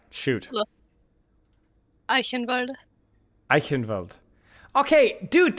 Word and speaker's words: Eichenwalde: Okay, dude, that's how I used to pronounce it. And then some other German dude, who forget who it was like, oh, it's Eichenwalde. I'm like, what? Really? But it's just Eichenwald.